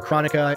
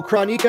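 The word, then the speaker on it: Kronika: to go down uh I keep calling her chronica Ed boom pronounces it chronik uh so chronik is basically you know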